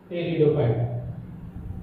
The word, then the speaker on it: pteridophyte: P is silent. टेरिडोफायटा.